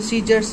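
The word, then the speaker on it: scissors: फिर आपका आता है सी साइलेंट में, तो जैसे सीजर्स हैं, मसल्स हैं, इंडेक्ट है। तो यहाँ पर देखो सी और आपका सी, यहाँ पर सी साइलेंट है, ठीक है, सी साइलेंट है।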